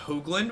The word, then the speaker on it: Hoagland: one three my last name is pronounced Hoagland with a long o sound when if there should